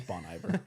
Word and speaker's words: Bon Iver: Bon or Bon Iver if you say it like that it's Bon it's Bon Iver for sure it's Bon Iver yeah and he didn't seem